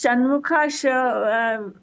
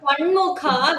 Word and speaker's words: Shanmukha: So, Bhagini, how to pronounce Shanmukha? I find it very difficult. So it has to come from the lower jaw, like almost near your throat, from the end.